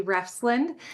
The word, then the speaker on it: Refsland: My name is Abby Refsland.